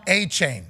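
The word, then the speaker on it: Achane: saying a chain right it's pronounced Devon a chain with his last name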